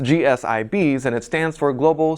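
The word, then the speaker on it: G-SIB: The Federal Reserve came down on GSIBs this week, and I'm pretty sure it's probably pronounced GSIBs, and it stands for Global Systemically Important Banks.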